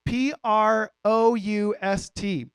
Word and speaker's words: Proust: I think that's how you pronounce it. It's Proust.